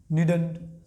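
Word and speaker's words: needn't: क्या पढ़ेंगे, मसंट, मसन, मसंट, मसन, मसंट, मसन, मसंट, दोनों तरीकों से इसको आप प्रोनाउंस कर सकते हैं। उसके बाद नीड नॉट, नीड नॉट, तो क्या हो जाएगा, नीडंट, नीडा, नीडंट, राइट।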